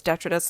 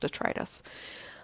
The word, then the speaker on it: detritus: I always thought it was detritus, and then I've heard it pronounced detritus.